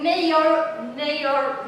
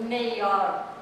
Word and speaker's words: Maillard: It's a Maillard reaction.